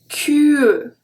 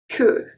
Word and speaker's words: queue: We don't pronounce the U after, but this time it doesn't really change the pronunciation of Q, it's just about spelling.